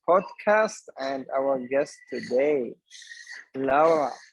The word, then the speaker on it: Laura: perfect spanish name yeah spanish pronunciation is a bit different it's all right yes laura we don't have accents laura has a flat pronunciation awesome awesome so today